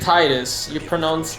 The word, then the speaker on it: Tidus: You pronounce it Titus. You spell it Tidus.